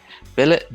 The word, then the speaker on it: billet: and mind scene mankind billet does not rhyme with ballet okay wallet mallet chalet